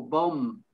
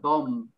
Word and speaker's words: bomb: um it's a it's a very s soft b if at all bomb um the lips are closed at the end of the of the word bomb climb again it's